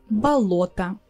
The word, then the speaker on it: болото: Or another word, болото. It's also similar, the same construction, but this time the о in the middle is stressed and the rest is а.